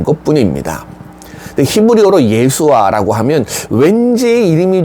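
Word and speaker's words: ישוע: 중에 하나였습니다 예수 어 이건 우리가 발음을 예수로 발음하는 거고요 사실이 이름은 히브리어 예수아 히브리어 예수아 그리스어 헬라어로 음치에서 우리에게 넘어오면서 우리가 예수 이렇게 부르게 된 것뿐입니다 히브리어로 예수아 하면 왠지 이름이 좀 귀에 익숙하지 않으십니까네 우리가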